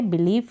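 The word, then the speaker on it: belief: बिलीफ। यहाँ पर बीच में आई ई है, उसको हम बड़ी के रूप में पढ़ रहे हैं।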